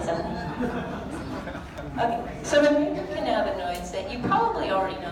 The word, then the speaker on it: cannabinoid: And can anybody say cannabinoid? Don't be annoyed, it's a cannabinoid.